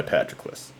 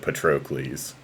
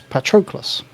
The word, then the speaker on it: Patroclus: yeah in high school I definitely pronounce it patroklies which I know that's wrong but it might be